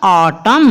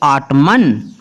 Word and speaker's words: autumn: AUTUMN इसका क्या निकालेंगे प्रोनाउंसिएशन, ऑटम, ना कि आटमन, क्योंकि M के साथ N आया और N हमेशा साइलेंट रहता है M के साथ जब N आए।